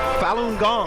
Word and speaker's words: Falun Gong: work all right one of your favorites falun gong is that did I say it correctly that's